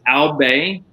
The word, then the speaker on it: Albe: I'm going to correct your pronunciation again. It's Albe.